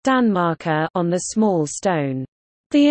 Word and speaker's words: tanmarkar: Danmark, on the large stone, and genitive, Tanmarker, pronounced Danmarker, on the small stone.